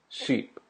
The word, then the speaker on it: sheep: I, E. I, E. Ship, sheep. Ship, sheep. Just listen very carefully to that.